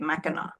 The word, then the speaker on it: Mackinac: I believe that's how you say it, Mackinac.